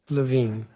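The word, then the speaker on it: Levin: know the big ocean, so it's pronounced Lavine but spelled without an E.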